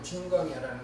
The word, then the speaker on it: 진광야: 알파벳이 찐으로 발음은 진광야라는 거죠. 이해되시겠죠? 영어로 봐도 다 찐으로 돼 있어요. 이 광야를 Z로 시작해요.